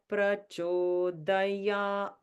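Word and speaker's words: प्रचोदयात्: Because it has a horizontal line over the A, it makes it a long A. And then we break up that syllable into the middle note and the high note.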